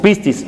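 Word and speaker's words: πίστις: largo del pasaje es el sustantivo griego pistis así se pronuncia bien exactamente ese es el sustantivo griego pistis fe mientras que creer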